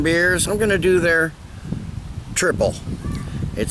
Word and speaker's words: Trippel: the website it says our triple Belgian style ale pronounced triple opens with bold blast